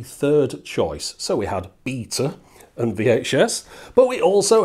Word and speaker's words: Beta: Of course, I'm talking about beta versus VHS. Now, I pronounced it beta there because this is a tale that's often told from a US perspective, where it was a